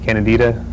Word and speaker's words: Candida: Candida, is that correct pronunciation of that? Yeah.